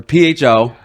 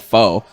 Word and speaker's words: pho: It's not called faux. It's not faux king.